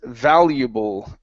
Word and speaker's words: valuable: valuable valuable okay now at the very ending of the word you're pronouncing an o saying Valu Bo okay instead of Buu with an oo sound for the L use your tongue to pronounce the L valuable valuable valuable there